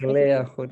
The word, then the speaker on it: Lea Goodett: But it's great to have you here, Lea Goodett. Is that the right pronunciation? Goodett. Yes, it's Lea Goodett in the Netherlands. Lea Goodett.